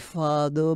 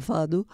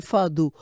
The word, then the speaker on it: fado: i są domy domy Fado Kaz fadu to Fado nie wymawia się fadu bo jest jako No